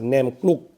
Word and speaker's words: Naem Kluk: Alright guys, so as usual, I've got the name wrong, okay? It's a Naem Kluk. Kluk is to mix, like khao kluk kapi. You've seen me eat in Bangkok. It means to mix.